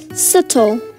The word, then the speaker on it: subtle: Okay, now how about subtle? Subtle, okay. B and E are the silent letters, ma'am.